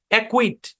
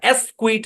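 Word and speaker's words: acquit: বরাবর ভাগ করে দেন একুইট একুইট মানে কি একুইট মানে হচ্ছে খালাস দেওয়া একুইট এরকম না এসকুইট এরকমও না একুইট মানে এখানে সিটা সাইলেন্ট আর কি একুইট শব্দের উচ্চারণ কি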